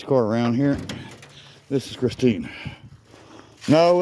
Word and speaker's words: Christeen: as our Christeen, and it's spelled different than the movie car. The last 4 letters are T-E-E-N, Christine. You know, like a teenager, but not meaning anything to do with a teenager, of course, but Christine.